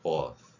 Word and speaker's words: birth: 그러니까 birth. 이 발음도 이제 단어 BOSS하고 완전히 헷갈리거든요.